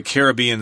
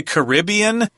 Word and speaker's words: Caribbean: So, of course, we all know about the Caribbean Sea. Some people say Caribbean. Yeah, I say I read this article as Caribbean, but uh like Tom, I grew up saying Caribbean.